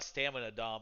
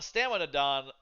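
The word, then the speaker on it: スタミナ丼: I would really like to have a stamina dom again. Dom Don again. Jeez, mispronouncing. A stamina don.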